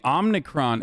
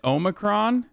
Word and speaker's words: Omicron: gives us time wait why is he saying omnicron isn't it omicron why does he keep